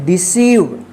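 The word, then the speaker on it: deceive: पढ़ेंगे बिलीव ठीक है तो आप ध्यान रखिएगा कि जब किसी वर्ड में आई ई एक साथ रहे या ई आई एक साथ रहे तो उसका उच्चारण ई होगा ठीक है चलिए नेक्स्ट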